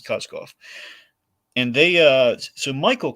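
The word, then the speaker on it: Koskoff: was Michael and Jacob uh kozkoff I think it's how you say it cosgoff and they uh so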